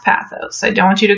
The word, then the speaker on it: pathos: It's pronounced pathos. I always say pathos, so I need you to know that, but it is technically pronounced pathos.